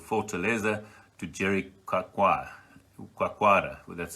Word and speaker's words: Jericoacoara: 300-kilometer downwind from a place called Fortaleza to Jericoacoara.